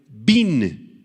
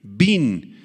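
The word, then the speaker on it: בִּין: entendimiento proviene del hebreo Bin b grande y n con acento en la i Bin y describe una capacidad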